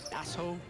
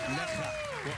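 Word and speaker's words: Nässjö: So you eyeball it and you say, Nasho, Nasjo. Yeah. Instead, you say, Necha. One more time. Necha. More. Give me more. Necha. Necha. Necha.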